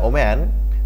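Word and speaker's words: woman: tick দিতে হবে younger ওম্যান দেখো ডব্লিউ ও এম এন উচ্চারণ কিন্তু ওম্যান হবে আর ডব্লিউ ও এম ই এন উচ্চারণ যদি থাকে তাহলে হবে উইমেন এখানে হবে ওম্যান the younger ওম্যান carried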